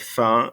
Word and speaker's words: faim: I know it's going to be really tempting for you to pronounce this M on the end of faim, but don't pronounce it.